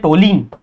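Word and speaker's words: toluene: इसको बोलते हैं टोलीन, ठीक है? इसको बोलते हैं हम लोग टोलवीन। टोलवीन भी बोलते हैं, टोलिन भी बोलते हैं, कैसा ही प्रोनाउंसिएशन करो पर स्पेलिंग याद रखो।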